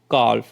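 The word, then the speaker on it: calf: पर देखिए we sorry W ए एल के यहां पे एल जो है वो साइलेंट है प ए एल एम में एल साइलेंट है और सी ए एल एफ में एल जो है वो साइलेंट है और इसको हम किस तरह से रीड आउट कर रहे हैं वॉक पाम काल्व तो इन तीनों वर्ड्स में एल जो है वो साइलेंट है उसकी साउंड नहीं निकल रही है ठीक है इसी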